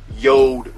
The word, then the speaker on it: JORD: YouTube watcher but I'm talking about boy watches yo wood watches spell J Ord but it's pronounced yo listen man so they reached out